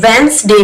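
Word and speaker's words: Wednesday: है वो निकाल सके वेंस डे में डी साइलेंट है यहां पर देखिए आवर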